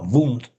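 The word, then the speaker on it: Wundt: E y bueno, pude ver de cerca este laboratorio eh estaba el escritorio Wund o bueno, Wund, como me dijeron que se pronunciaba ya, era un hombre que trabajaba mucho, hacía muchos apuntes, ¿no?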